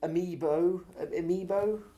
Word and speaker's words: amiibo: I suppose obviously the Amiibo, is that how it's pronounced? Amiibo, yes.